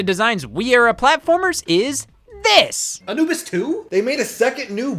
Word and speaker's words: Anubis II: Anubis 2 is actually supposed to be pronounced Anubis II, as if this is the offspring of the original Egyptian god Anubis.